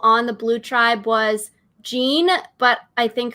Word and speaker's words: Jean: the blue tribe was jean but i think her name is not pronounced i think it's more like john right joel like yeah